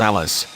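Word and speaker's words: ALIS: The GAO said ongoing costs for developing the ALICE, pronounced ALICE, aren't fully funded.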